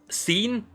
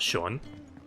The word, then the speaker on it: Sean: the there's not even an H in there scene Sheen it's that's not Sean come on that's always